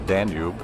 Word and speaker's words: Danube: the international dunal Fest which in English we pronounce it the Danube which is the river